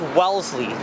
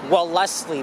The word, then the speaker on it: Wellesley: covered it here and to pronounce it it's wellesley but with the spelling or if you look at the street site you may think it as well leslie but nope it is well part of